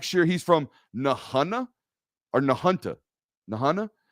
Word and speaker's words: Nahunta: not from black sheer he's from nahanna or nahunta nahana it's spelled in a h it's pronounced per kirby smart south georgia legend um nahanna now i've never been in the hana no